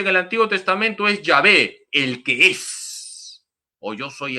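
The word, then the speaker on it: Yahveh: dios por excelencia en el antiguo testamento es llave éxodo 314 las cuatro letras sagradas se pronuncian llave el que es yo soy el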